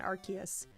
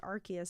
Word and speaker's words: Arceus: i seriously got laughed at for saying an arceus it's like nose nodes or see us some oh well and i love the fact that we were proven that it's actually pronounced arceus and they're still laughing or they're not laughing